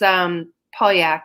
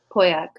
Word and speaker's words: Pauillac: Oh no, and it's from Bordeaux, but it's Pauillac. It's spelled Pauilla. Oh yeah, yeah, Pauillac.